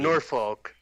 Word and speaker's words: Norfolk: we didn't even mention like the no fork. How do you say it? No fork. No fork I four. Those poor um sailors who got railroaded. Norfolk.